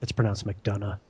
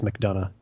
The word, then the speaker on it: McDonough: It's pronounced McDonough. I have no idea. I only ever read your name. I know. Don't worry about it. I mean, do worry about it because it's McDonough.